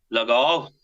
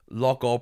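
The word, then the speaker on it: Loughall: My wife often says this to me about the way I pronounce Look all. I think it's a country thing, Peter. I'm out from the sticks originally, so I think Okay. that's where the pronunciation of Look all comes from.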